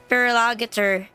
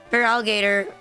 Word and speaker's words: Feraligatr: Feraligatr. Like this time I have that one on my team instead of like instead of choosing a feral alligator. Feraligatr. Yeah, Feraligatr. Hi, Gian. Like, I have a Feraligatr instead of like a Gyarados.